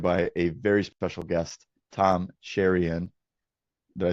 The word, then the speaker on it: Tom Cheriyan: I'm joined by a very special guest, Tom Sherion. Did I say it right? You did. Okay, beautiful. Apparently, I've been mispronouncing it for the last four years, and